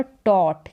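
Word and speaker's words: taught: पढ़ाना फिर यहां पर टोट क्या है टोट यहां पर भी जीएच साइलेंट है और टोट का मतलब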